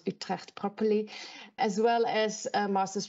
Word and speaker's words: Utrecht: pronounce it because I'm Dutch so I can pronounce Utrecht properly as well as masters from Stellenbosch University